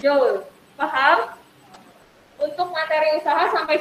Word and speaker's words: joule: Nah, joule ini dibacanya joule.